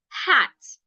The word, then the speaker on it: hat: For example, the word hat. Many Nigerians pronounce it as at. Where is my at? Instead of where is my hat? The H must be heard because the H is not silent.